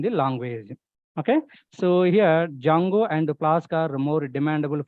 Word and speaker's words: Django: framework guys Django framework where D is silent guys that's why people are calling like Jango framework Jango framework not Django so as a student